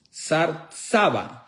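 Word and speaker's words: שר צבא: una frase que se se pronuncia en hebreo, sarsaba.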